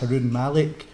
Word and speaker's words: Haroun Malik: gentlemen my name is a read Malik despite the introduction that that is how you pronounce my name and know you've all